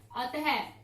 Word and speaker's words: अतः: तो प्रातः, अतः, अतः, तो ये विसर्ग लगते ही हमें ह का प्रयोग करते हैं, विसर्ग के लिए हम ह का, विसर्ग का जो उच्चारण है वो ह के रूप में किया जाता है, अतः।